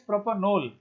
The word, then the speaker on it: propanol: So pronounce it properly, it is propanol, OL. Why? Because AL, it is the suffix for aldehyde, that is propanal. Propanal, propanol.